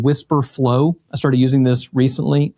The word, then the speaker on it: Wispr Flow: is a tool called Whisper Flow. I started using this recently. They spell it funny. It's WISPR flow.ai.